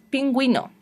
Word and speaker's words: pingüino: pero tengo otra opción la uv con puntitos se llama diéresis que significan estos puntitos que si tengo que pronunciarla o no son muchas palabras en español pero hay algunas pronunciamos paragüero antigüedad pingüino los dos puntitos para